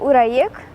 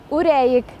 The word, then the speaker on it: үрәйек: Ураек? Уряик. Уряик заплетем. Звук У надо произносить немного уже.